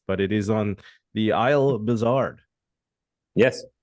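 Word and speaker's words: Île Bizard: have a podcast but it is on the Isle bizard yes IL bizar yep bizar is an island upon itself and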